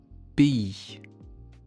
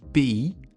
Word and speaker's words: pays: Mais quand il n'y a pas de voyelle après, ça se prononce i comme dans le mot un pays. Un pays.